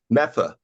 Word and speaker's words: Medford: You got to learn to pronounce things correctly. It's Metha. Metha.